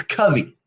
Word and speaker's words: Covey: when you were 10 is when you decided, and it's Covey, Yes, you're one of the very not few that Covey. actually pronounced it correctly.